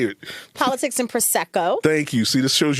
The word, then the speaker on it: Prosecco: I have always pronounced it wrong. Say it. Politics and Prosecco.